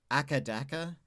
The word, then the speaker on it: AC/DC: Did you know that some Australians call AC/DC ackadaka? That's how they say it.